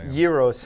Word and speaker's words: gyros: like reports to everything it's pronounced gyros in athens greece so we're gonna go